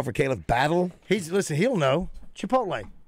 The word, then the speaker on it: Chipotle: Chipotle. Correct enunciation and pronunciation. I think you got it. You just nailed it. Say Chipotle. It. Mm-hmm. Chipotle. I think you enunciate the PTL.